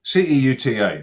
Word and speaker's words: Ceuta: Uh it's called uh Ceuta. Ceuta. It's spelled Let me get this right. c u c e u t a c e u t a but it's pronounced Ceuta in Spanish.